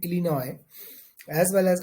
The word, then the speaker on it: Illinois: are silent just like Illinois uh so s is silent in Illinois as well as Arkansas